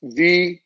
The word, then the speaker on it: Varela: Last name right, Alex Varela, or how do I pronounce it? It's V-A-R-E-L-A, Kristin?